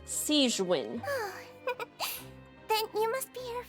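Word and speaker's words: Sigewinne: for you but thank you for your concern seen sewin sorry I mispronounced your name sein then you must be here for those two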